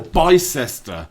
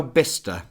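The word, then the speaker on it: Bicester: Oh, actually I went to Bister Bister or Bice. I don't think that's how you say it. No, but some people do. Alan, I've never heard anyone say, "I've been to Bice Village." I think those people are wrong.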